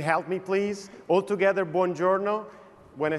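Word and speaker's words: buongiorno: correctly can you help me please all together bonjourno when I say three two one bjo was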